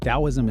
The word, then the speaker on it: Daoism: Dowoism is pronounced like a d o w i is mm.